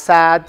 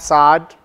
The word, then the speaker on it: Saad: from the Mediterranean so Saad pronounced sad sod however you like you can call me